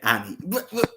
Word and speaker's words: Anne: person is Dayaka's daughter, Anne or Anna, Annie. yeah, Annie, but it's spelled Anne, you Yeah, yeah, know, yeah.